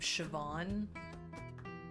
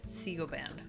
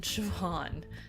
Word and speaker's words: Siobhan: Yeah, it's like the name Siobhan, which if you were to try to pronounce that with having no inference, looks like Sigoban. Like, how is that in Siobhan? How did we get from that to the other? I mean, the answer is Gaelic, and I'm horrible at